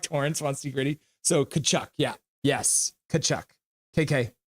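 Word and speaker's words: Tkachuk: even know how to spell it the tea is silent kachuck yeah ritty like torren want see gritty so kachuck yeah yes kachuck KK h two nothing if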